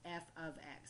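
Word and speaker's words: f(x): notation which looks like this and that is pronounced F ofx because what it means is that I have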